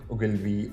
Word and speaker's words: Ogilvy: Yeah, and then there was another an advertising agency, the Ogilvy and Mather. That's how you pronounce it.